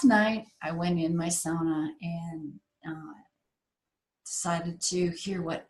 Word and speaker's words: sauna: Those of you who are half Finn like me know that sauna is the correct pronunciation, not sauna. It is sauna.